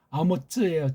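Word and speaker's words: אָמוֹץ: 쪽발이 엉터리 그 소리를 쪽발이를 내서서 서구가 만드는 엉터리 글자 한글로다가 번역한 끔찍한 타락상 속임을 경계해야 되는데 아모츠예요. 쯔. 아모츠라고 이거 짜데이를 츠라고 읽는 사람은 이건 잘못 배운 거예요.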